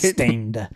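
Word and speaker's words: Staind: And it's spelled gross too. Yeah. S-T-A-I-N-D. Ooh. Like it, Stained.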